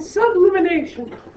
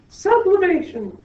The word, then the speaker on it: sublimation: boiling freezing condensation and sublimination sublimation I have to say it right PA yes you do